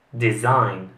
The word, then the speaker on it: design: come avete sentito giuseppe gli italiani la pronunciano in modo sbagliato dovrebbe essere design design passiamo alla prossima parola giuseppe